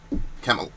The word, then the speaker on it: Kamala: Kamala. So is it Kamala? Look, you just disappeared. So is it Kamala? Somebody phonetically, I used to call her Kamala, and then I kept hearing on NBC Kamala.